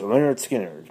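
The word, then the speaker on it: Lynyrd Skynyrd: The pronounced Leonard Skinner.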